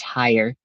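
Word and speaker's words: Haier: It's just pronounced as higher.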